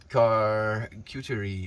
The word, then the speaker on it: charcuterie: It's a French board. It's pronounced, there we go, charcuterie.